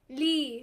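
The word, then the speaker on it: لِي: Rhymes with B. لي. لي. The lam loses its haraka. Whatever word it was loses its haraka when the ya comes over. لي.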